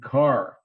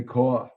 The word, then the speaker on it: car: And I would go home every night and I would stand in front of the mirror, make sure I pronounced the R in car, didn't say caw.